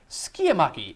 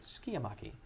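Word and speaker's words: Sciamachy: Spell that one out loud for me. Skiamaki. S-C-I-A-M-A-C-H-Y. Skiamaki.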